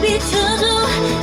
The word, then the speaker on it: 비춰줘: 다시 일어날 수 있었던 이유 높은 곳에 올라 날 비춰줘 가슴에 날 알아보게 날 불러줘. 네, 날 비춰줘. 왜냐면 이게 너무 조로 들려가 좀 넓게 발음해주세요. 저어로.